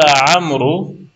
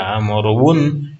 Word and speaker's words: عمرو: قال عمرو انا احب العمل. گفتن عمر عمرو یا عمرون نیست دیگه، واو هست نوشته میشه لیکن نطق نمیشه، تلفظ نمیشه، یعنی تكتب ولا تنطق.